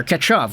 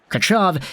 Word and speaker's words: Tkachyov: is spelling his name vladimir ketchuv which is a lot more accurate as to how the russian guys and the khl broadcast pronounce his name but the contract is